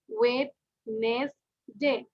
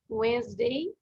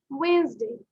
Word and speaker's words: Wednesday: আমরা কিন্তু অনেকে বলি ওয়েডনেসডে, বাট it's pronounce is ওয়েডনেসডে, ওয়েডনেসডে, ওয়েডনেসডে। সবাই কি উচ্চারণ করছো? ওয়েডনেসডে, ওয়েডনেসডে, Wednesday.